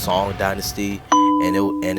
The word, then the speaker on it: Song dynasty: The eagle claw system of kung fu used by kitana originated in southern China during the sun dynasty around the year 1250 AD. It's pronounced song dynasty and it and it's actually around or in between 11:03 through 1141.